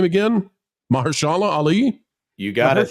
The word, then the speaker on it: Mahershala Ali: Oscar winner, guys, help me, how do I pronounce his name again? Mahershala Ali? You got it. Mahershala Ali, yep.